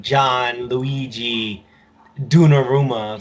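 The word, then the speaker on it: Gianluigi Donnarumma: was that like there's Gianluigi dawn aroma so like that's a long name but like those is just like like though actually pronounced like john luigi do narooma like no some people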